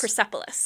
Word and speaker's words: Persepolis: Persepolis.